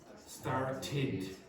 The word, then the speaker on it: started: Remember, if the verb finishes in a t or a d, like for example, this word finishes in a t, then the pronunciation of that will be what? Started. Started. Now I've already heard Vicente make a mistake. He went start. You have to pronounce the last part.